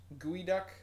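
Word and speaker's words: geoduck: is not a duck it is spelled GE ou D uck and I realize that that is not anywhere close to how you would think you would pronounce gooey duck but or spell gooey duck but that's how it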